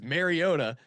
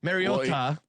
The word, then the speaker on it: Mariota: and he he says Mariota, or at least that's how I hear it. So Mariota. Mariota. Mariota. He As long as you say Mario, you'll get it right.